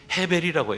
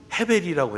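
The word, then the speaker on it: הבל: 그런데 여러분, 이 아벨의 히브리식 그 발음은 헤벨이라고 해요.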